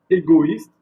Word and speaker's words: égoïste: Donc il divise la tonalité ou la sonnerie du mot.